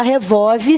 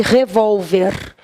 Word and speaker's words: revólver: e e tem revolve não fala revolve senão escreve errado tá tem revolve olha lá gente repórter e revólver ó eu verifico a